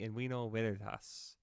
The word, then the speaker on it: in vino veritas: In vino veritas. Or I think in ancient Roman, they actually didn't say V, it was we. So it'd be in vino veritas would be the correct pronunciation if Sure, what I've whatever been that told.